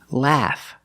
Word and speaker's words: laugh: not pronounced a it is pronounced a the short a sound like black cat laugh the GH makes the F sound laugh remember the preposition at